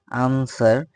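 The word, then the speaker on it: answer: এরপর silent W হচ্ছে আনসার, আনসারের এখানে আনসার র উচ্চারণ না করলেও চলবে।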